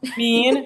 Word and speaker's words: Meehan: Meehan. You want to unmute yourself and say It's hello? Meehan. The H is silent. Mean.